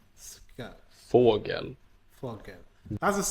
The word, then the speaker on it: cykel: Cykel, Cykel.